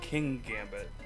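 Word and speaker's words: Kingambit: It's king gambit. It's a king piece. It's pawnard pawn bsharp bishop. There's one g.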